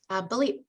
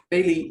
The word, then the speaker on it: Bailey: Balit. I hope I'm pronouncing that correctly. Bailey, but it's close enough. You pronounce it Balit? Bailey, yes. Balit, okay.